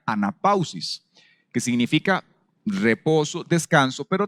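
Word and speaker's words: ἀνάπαυσις: Viene de una palabra griega que se pronuncia anapausis, que significa reposo, descanso, pero también significa recreación o vida, ¿verdad?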